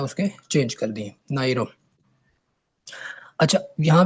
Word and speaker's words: Nauru: अब इसको नोरो नहीं पढ़ेंगे, अब नाइरो ही पढ़ेंगे, ठीक है, जो भी इसकी प्रोनाउंसिएशन है आप वो देख लीजिएगा।